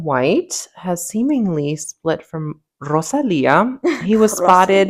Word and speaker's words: Rosalía: Um, in other news, Jeremy Allen White has seemingly split from Rosalia. He was spotted. Rosalía. Well, you got to roll your R's.